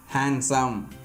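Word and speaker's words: handsome: கீழ்காணும் பொதுவான வார்த்தைகளில் டி என்ற எழுத்துக்கு ஒலி வடிவம் இல்லை. ஸோ இந்த மாதிரியான காமன் வேர்ட்ஸ்க்கு டிக்கு ப்ரொனன்சியேஷன் கிடையாது. அந்த இடத்துல என்ன ஆயிடுதுங்க, டி சைலண்ட் ஆயிடுது. ஃபார் எக்ஸாம்பிள் பாருங்கள், வெட்னஸ்டே, ஹேண்ட்ஸம், ஹேண்ட்கர்ச்சீஃப், சாண்ட்விச் இந்த மாதிரி இதில் எல்லாமே நாம் என்ன பண்ண மாட்டோம், டியை ப்ரொனவுன்ஸ் பண்ண மாட்டோம்.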